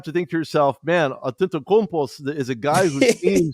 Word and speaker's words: Antetokounmpo: When you look at Milwaukee being the last, season's champs, you always have to think to yourself, man, Antetokounmpo is a guy who seems to get inside of the paint and make it count.